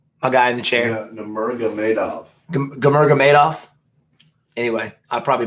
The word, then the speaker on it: Nurmagomedov: Kamagomedov. How do you say his last name? Tony, my guy in the chair. Nurmagomedov.